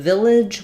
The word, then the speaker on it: village: the word Village so in Village we have first syllable stress we have the I vowel and uh our second syllable is very reduced we'll have a little schah there Village and the letters g say the J sound like in jump or job which we typically spell with G or g e or